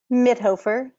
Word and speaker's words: Midhofer: Is it Midhofer? How do I say it right? Midhofer. Midhofer. See, I knew I was going to say it wrong. You were close. It's kind of like an Amish kind of name, a German name, a good name.